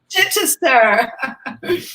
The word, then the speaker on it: Chichester: Chichester. One of those many cities in the north of England with the Chester at the end, like Manchester.